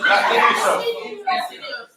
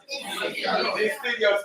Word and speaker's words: deciduous: Not delicious. Insidious. What is it called? Deciduous teeth.